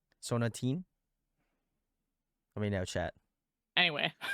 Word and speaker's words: Sonatine: sonatine is that uh I think it's pronounced sonatine sonatine okay I could be wrong it kind of sounds like a gum yeah it does